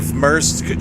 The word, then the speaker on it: Maersk: Essentially an ATS, Mayer Shipping is just one of the fictional delivery locations or clients where you can... Negative. Maersk Shipping is a real shipping company.